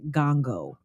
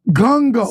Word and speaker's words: Ngongo: My husband's last name, my last name, my married last name is pronounced Ngongo. Ngongo. So the first It's N, silent. Yes.